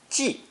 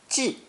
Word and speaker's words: 计: our final character today, the speech radical next to the number 10, pronounced fourth tone, 记, 记.